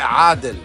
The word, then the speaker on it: Adel: Sí, pero se pronuncia en árabe Adel.